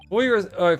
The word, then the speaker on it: foyer: Foyer, foyer is no correct pronunciation because it's based on accent and personal preference.